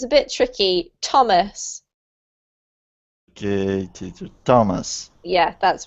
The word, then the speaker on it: Thomas: And this one, Jose, is not th, but actually a T sound, so it's a bit tricky. Thomas.